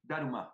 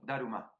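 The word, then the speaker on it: ダルマ: Entonces, cuando ellos, los japoneses, no van a pronunciar Dharma como nosotros, van a decir Daruma, Daruma. Entonces se escribe así, el famoso Daruma. Daruma es la pronunciación japonesa para Dharma, Bodhidharma.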